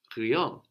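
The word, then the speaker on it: rien: we have no and Creon spelled i IE n young yeah and it works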